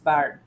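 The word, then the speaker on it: bird: মানে আর বিটা হচ্ছে যোগ করে দেন ইস বার্ড, তাহলে বি আর ডি ইস বার্ড, নট আয়ের উচ্চারণ হয় না, আয়ের উচ্চারণ করলে ইস বিট হয়ে যেত, ইস বিট, বুঝতে পারলেন?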